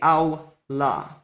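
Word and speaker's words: עולה: So if you pronounce a vav, you'll say avla, and if you use a vowel, you'll say awla.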